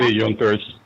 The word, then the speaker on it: Junkers: or I don't know maybe but they called yunkers okay they but it's pronounced spelled junkers and they just collected rent